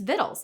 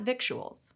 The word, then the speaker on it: victuals: from the French vital, but its Latin origin was victualis, and scholars thought the modern edition should reflect that. Though the new spelling eventually stuck, the general public didn't change the pronunciation to match it. So it's victuals, not victuals.